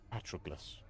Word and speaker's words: Patroclus: I would have said Patroclus. Patroclus? Less emphasis on the ok. And more emphasis on the tro. Patroclus.